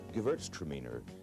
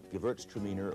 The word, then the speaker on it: Gewürztraminer: Here we have the Gewürztraminer, Gewürztraminer or spicy Traminer.